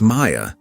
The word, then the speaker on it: Maya: "It's Maya," Maya corrected quietly. "Like paper."